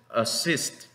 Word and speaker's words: assist: Esta otra es Entonces la pronunciación de esta palabra que significa asistir es assist. Vean que casi no se mueve nada la boca, assist, porque esta es una schwa y después tiene una I corta también.